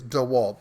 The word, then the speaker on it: DeWalt: Walt I it yeah correct pronouncing I believe is D Walt but I've the spelling